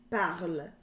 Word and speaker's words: parles: Je parle, tu parles, with an S. Il or elle parle, with E. Okay? So the S in the tu form is silent.